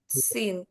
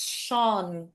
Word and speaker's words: Sean: So it's not Sin, okay? It's Sean.